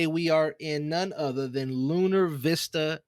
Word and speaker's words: Lunar Vista: Today, we are in none other than Lunar Vista. And did I say it right? Yeah, Lunar Vista.